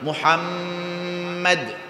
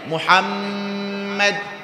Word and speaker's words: মোহাম্মদ: তাহলে আমার দিকে তাকান কিভাবে উচ্চারণ করতে হবে মোহাম্মদ তো চুমু দেয় কি এক ঠোঁট দিয়ে না দু ঠোঁট দিয়ে তো নবীর নামটা দেখেন চুমু দিয়ে উচ্চারণ করা ছাড়া কোন উপায় নাই মোহাম্মদ সুবহানাল্লাহ বলেন আল্লাহু আকবার বলেন আল্লাহু আকবার আল্লাহু আকবার নবীর নাম চুমু ছাড়া উচ্চারণ করা যায় না আর যারা নবীকে লেজ